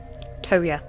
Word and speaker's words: Toya: Toya. Okay, so that's how you say it. Toya.